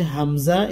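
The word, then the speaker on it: ء: এটার উচ্চারণ হচ্ছে আলিফের উচ্চারণের মতো আ ই ও।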